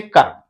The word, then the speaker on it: कर्म: इतना ध्यान रखना है, रेफ की मात्रा व्यंजन वर्ण के ऊपर लगती है और जिस व्यंजन वर्ण के ऊपर लगती है उसके पहले आधा र उच्चारण होता है, जैसे कर्म, ठीक।